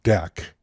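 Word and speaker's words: deque: they were inserted the double-ended Q object pronounced deck can push and pop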